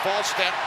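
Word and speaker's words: Wallstedt: Game starts with a W pronounced Volstead.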